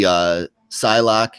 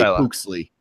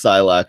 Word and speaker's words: Psylocke: Is that how you say her name? Or do you say Pooksley? I used to say Pooksley for some reason. When I was a little kid, that's how I would read it, Pooksley.